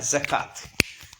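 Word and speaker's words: زكاة: നമ്മൾ ഉച്ചരിക്കുന്നത് സക്കവാത്ത് എന്ന അല്ല, സക്കാത്ത്.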